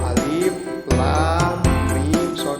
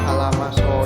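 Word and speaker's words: المص: Nah, cara membacanya itu ya seperti barusan, yaitu dianya satu persatu, alif lam mim son, bukan alama so, ya bukan disatukan.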